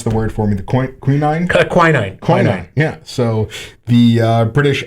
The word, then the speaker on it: quinine: You pronounce the word for me. The quinine?